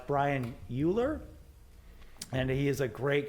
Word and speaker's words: Euler: I think it's Euler. I don't think it's Uller.